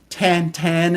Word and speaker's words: Tintin: would know him as Tintin t 10 as he would be pronounced by his creator her that's one of